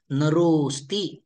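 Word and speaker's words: नरोऽस्ति: झालं नरो असती नरोस्ती उच्चारण कसं करायचं आहे नरोस्ती उच्चारण करायचं नाही फक्त रो दीर्घ करायचा आहे ओ दीर्घ उच्चारण करायचा आहे नरोस्ती समजलंय काही शंका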